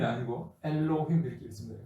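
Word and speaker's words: אֱלֹהִים: 근데 우리가 일반적으로 메렉 이렇게 읽는다고 이렇게 보는데 원래 L이라는 발음은 동서고금을 막론하고 L이라는 발음이 중간에 등장하면 동서고금을 막론하고 리을을 두 번 넣습니다. 엘로힘도 마찬가지입니다. 에로힘이 아니고 엘로힘 이렇게 있습니다.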